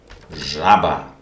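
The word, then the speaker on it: жаба: Żaba. In English, for example, pleasure. Pleasure. So this is the sound zh, which is similar or the same.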